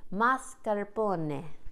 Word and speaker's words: mascarpone: dad you know and the Mars marscapone how do you say it I always forget mascarpone okay mascar okay happy